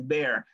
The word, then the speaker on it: bear: Please take advantage of that to say, no, guys, it's not beer, it's bear.